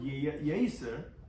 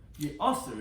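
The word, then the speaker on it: יאסר: Says no. Ye'aser, it's spelled with an aleph.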